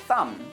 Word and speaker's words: thumb: who told me that he knew about the silent k in these words but he always pronounced or at least tried to pronounce the b in words like thumb or dumb and the W in words like Rhymes or wrong so you see how